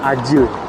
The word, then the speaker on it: Acil: namanya Rumah Sakit ya tulisannya Acil service tapi kalau dibaca itu tulisannya Ajil servis Ajil itu emergency Arya jadi C di Turki itu dibacanya J kalau gak ada buntutnya nah kayak di sebelah